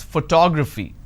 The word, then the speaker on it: photography: I pronounce this as photography how do I pronounce photography and how many syllables do I have here photography four syllables but in this case I stress on the second syllable that is what word